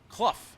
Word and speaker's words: Clow: Rowdy Briggs just uh chimed in and said that uh Clow is actually pronounced Kluff.